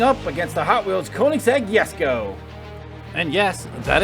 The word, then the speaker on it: Koenigsegg: bugatti devo going up against the hot wheels koenigsegg yes go and yes that is how you pronounce it it's a swedish car special thank